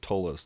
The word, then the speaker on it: Ptolus: published until they produced Ptolus for what was then, I guess, 3rd edition D&D. Sometimes I hear them pronounce it Tolus, and they're like, man, that book.